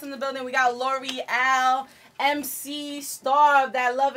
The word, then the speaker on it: Lore'L: We got L'Oreal, MC, star of that Love and Hip Hop show. Yeah. You already know. You know is it L'Oreal?